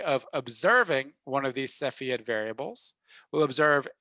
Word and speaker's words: Cepheid: that is a crazy looking word but it's pronounced cepheid so the cepheid variable has a very nice